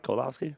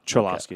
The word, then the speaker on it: Cholowski: Okay, it's not Kolowski. No, Cholowski.